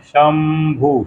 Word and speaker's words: शंभु: तो श के वही तालव्य स के ऊपर जो बिंदी होती है उसको क्या पढ़ते हैं? शंभु, शंभु, म, शंभु। उसी बिंदी को म पढ़ते हैं।